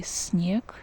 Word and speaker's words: снег: The letter E goes after N, that's why we need to pronounce soft N here. We can say that soft N has an impact on the S, that's why S also becomes kind of soft sound.